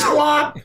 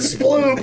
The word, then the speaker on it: Splop: So what did you said Mundlemud versus Splop, but I mispronounced it Sploop.